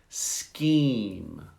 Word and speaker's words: scheme: is a great one scheme with a k scheme scheme all right chorus